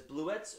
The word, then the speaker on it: Bluets: Number five was Bluets, or Bluet, by Maggie Nelson. I guess both are correct ways of pronouncing it. She references both ways of pronouncing it in the book, so I'm going to pronounce it Bluets because it's easier for me to say.